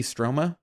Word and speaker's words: Stroma: i remember that gretty stroma spell that g-r-e-d-d-i-e stroma s-t-r-o-m-a like troma with an s that's a strange name